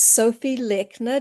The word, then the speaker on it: Sophie Lechner: Today we have a special guest and her name is Sophie Lechner. Did I pronounce that right, Sophie?